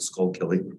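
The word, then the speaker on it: Schuylkill: to be in Philadelphia or not pronounced Google pronounce it everyone else we call it the skull Kelly it's called salt um so um so I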